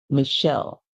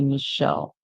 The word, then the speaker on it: Michelle: same pronce we here pronunciation we have here Mish and then L Michelle the two the l e at the end is actually silent in the word so you would just say Michelle Michelle all right and